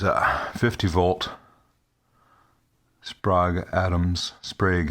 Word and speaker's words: Sprague: 50 volt sprog atoms sprague atoms rhymes with vague oil not because they're superior